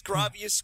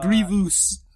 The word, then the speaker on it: Grievous: there and and Obi-Wan here we go Grievous gravious gous Grievous Grievous noodles I'm gonna call him